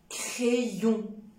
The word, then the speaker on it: crayon: tuyau d'accord rayon crayon attention il y a des personnes qui prononcent crayons c'est faux parce que ay c'est comme et s'il vous plaît évitez de prononcer a c'est et crayon rayon d'accord chaque fois